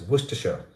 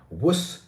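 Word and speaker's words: Worcestershire: So what you can do is it's pronounced as woristers. Worusters worister with stress in the first syllable.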